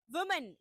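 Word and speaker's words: women: Because वीमेन वीमेन is going for a single person.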